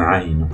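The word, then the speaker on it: عين: Au niveau de la prononciation, celle qui n'a pas de point, celle-là, s'appelle le aïn.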